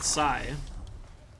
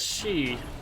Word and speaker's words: Xi: it does because I've already said Psy that's the way you pronounce XI but I guess she is also a valid pronunciation I guess that makes sense because people call the Chinese president XI shipping so maybe size like the wrong way to say it actually and I've been